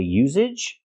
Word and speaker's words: usage: The usage, the word is pronounced usage. We have to use the S sound. S, no voice. S, usage. Like star and sleep.